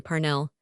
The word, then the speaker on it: Parnell: Parnell, she said, with a strong accent on the first syllable, is the man of destiny.